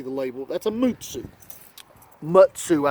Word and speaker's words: Mutsu: label that's a mutsu mutsu I think is the technical pronunciation but at this point in my life I pronounced it MSU so much that it's probably going to be a mutsu from now on um but I think it's technically a mutsu now you can see